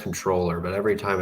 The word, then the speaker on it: comptroller: don't like that word or it's technically pronounced controller but every time it's late at night and I read it I'll say call troller but as Bob Bullock